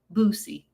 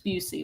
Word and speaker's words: Busey: And you called him Boosie. I mispronounced the man's name. It's Busey.